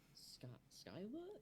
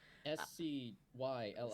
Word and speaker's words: Scylla: Skyla? Is that from the Odyssey? There is, I think I know what you're talking about. Scylla.